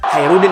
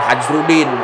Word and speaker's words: Khairuddin: pasti masuk One Piece jadi Khairudin Khairudin dibaca bukan hajruddin kalau barbarossa itu sendiri